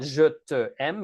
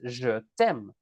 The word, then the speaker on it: je t'aime: Not je te aime, it's je t'aime.